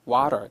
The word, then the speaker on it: water: 이미 여러분 아실 겁니다 우리 물을 영어로 미국애들은 water 그렇죠 water이 강세가 강세가 보면이 앞에 있죠 앞에